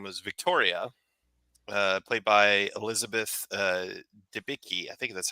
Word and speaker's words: Debicki: see, her name was Victoria, played by Elizabeth Debicki. I think that's how you pronounce her name, Debicki.